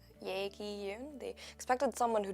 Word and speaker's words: Yae Gi: The amount of Yae Gi Yoon that I would hear, it's pronounced Yae Gi, it broke my heart a little bit.